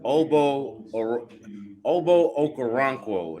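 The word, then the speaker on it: Ogbo Okoronkwo: Oh, hey, it's Obo Okoronkwo. Now, how you pronounce his actual real first name, I don't know, but he just goes by Obo for his first name.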